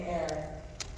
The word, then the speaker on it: heir: John, who wrote Murders in the Air, as you probably noticed in your program. Heir is spelled H-E-I-R. Murders in the Air.